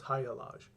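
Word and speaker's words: Hagalaz: thrown into higher laws haga lodge pronounced hiya lodge we get to high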